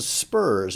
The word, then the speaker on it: ZPURS: this is a product called Spurs and it's spelled with a Z so 0 the next